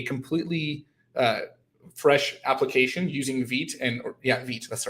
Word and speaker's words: Vite: If you want, what I could do is I can actually spin up a completely fresh application using Vite, Vite, that's the right way to say it.